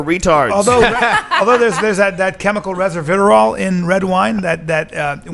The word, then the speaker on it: resveratrol: It's pronounced resveratrol.